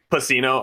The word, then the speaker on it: Pacino: I think it's Pacino, but yeah. Pacino. Okay, yeah, that makes Yeah. sense. Rhymes with casino.